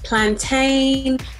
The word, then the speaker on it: plantain: It's all about the spelling, like exactly how it's pronounced. Plantain, maintain, drain.